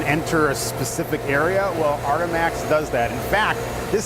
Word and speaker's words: Artemax: How do you pronounce this? Artemax? Artemax, exactly, yeah.